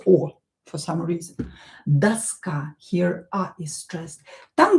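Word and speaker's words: доска: Daska, same here. O not stressed, pronounce it as a. And this a is stressed here, not o. So, pay attention to the stress, it's very important. Daska.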